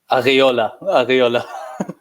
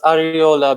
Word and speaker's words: Areola: How did you pronounce his last name again? Areola.